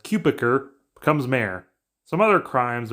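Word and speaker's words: Cutebiker: So Tyler, that we learned the last name is pronounced Cupiker, becomes mayor.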